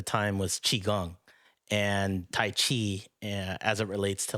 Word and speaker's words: Qi: you who don't know key is actually pronounced Chi it's a Mandarin word it means energy and it's a life